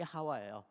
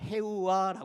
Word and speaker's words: 하와: 다 히브리어로 돼 있죠 거기에서 하와가 맞아요 발음이 하와에 그런데 이것이 헬라어로 구약에 있는 것을 헬라어로 그릭 이렇게 번역한 성경이 이걸 70인 역이라고 하는데 거기에서 번역할 때 그 발음을 해우와 했어요 그리고 난 다음에이 헬라어를 라틴어 성경으로 블게이 성경으로 번역을 할 때 거기에서 해봐라고 했어요 그리고 영어 성경으로 번역할 때 h 발음을 묵음으로 해 가지고 이브라고 됐어요 예 그러니까 하와도 맞고 이브도 맞아요 똑같은 걸 얘기하는데 발음이